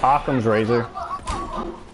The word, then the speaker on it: Occam's razor: Occam's razor. That's how you pronounce it.